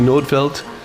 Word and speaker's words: Nordfelt: welcome to the podcast i'm here with nordfeldt have you change your name since since your